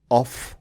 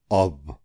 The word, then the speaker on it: of: अनि यसको उच्चारणमा पनि ध्यान दिनुहोस् है, यसको उच्चारण अफ होइन, अब हो, अ र फ होइन, अ र व, अब।